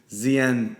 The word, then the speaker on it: ZYEN: this via the podcast, they sound the same, but ZN Energy is spelled Z-I-Y-E-N, ZN Energy. And they're actually launching an issuance platform called ZN, Z-Y-E-N. So sounds the same, but they are spelled and styled differently.